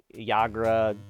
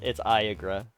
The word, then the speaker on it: Eiagra: I've had people pronounce it Iagra, Yagra, it's Iagra.